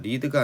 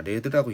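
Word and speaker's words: read: 발음을 어떻게 읽어야 돼요 리드가 아니라 레드라고 있는 거죠 이렇게 그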